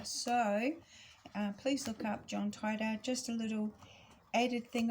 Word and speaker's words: Titor: So John Titor is how you say it in American, Titor.